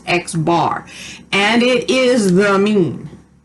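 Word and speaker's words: x̄: the top of it this is pronounced x bar and it is the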